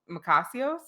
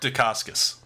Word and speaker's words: Dacascos: Macasios? Mark Dacascos. Dacascos. Oh, I was Yeah.